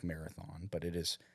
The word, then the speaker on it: Marathon: you have Alpine first uh as well as Marathon not to be confused as marathon it's spelled like Marathon but it is pronounced Marathon Texas very well